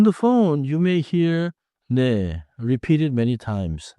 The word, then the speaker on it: 네: is not English name. Keep it short and light. 네.